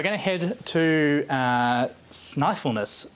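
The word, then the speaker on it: Snæfellsnes: to head to uh sniffleness peninsula is how that one's pronounced now this is known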